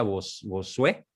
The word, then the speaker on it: Bossuet: Hay un libro formidable de un autor francés, se escribe Bossuet, con doble S y T al final, Bossuet, se pronuncia Bossuet, que su libro se llama así, sobre el corto número de los que se salvan.